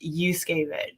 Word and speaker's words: Juszkiewicz: um it's so tricky it's because that j is silent so it's actually pronounced yusuke and so that gay